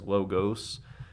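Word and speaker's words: λόγος: I and then o English and Greek make the exact same o sound so that's why this is logos um but the L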